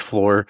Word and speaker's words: Fluor: Is it floor of the pronunciation and what you guys do? It is. Yes. Yeah, that's Yeah, it's floor.